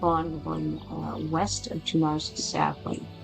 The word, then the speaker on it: Tunare: We're going west of Tunar's Sapling. It's interesting that they pronounce it Tunar, when it's spelled Tunare.